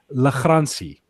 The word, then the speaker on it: Lagrange: But to pronounce it correctly, Lagrange.